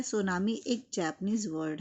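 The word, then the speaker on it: tsunami: they are called सुनामी pronounce सुनामी ही नाम से pronounce करेंगे ये तो हमने बहुत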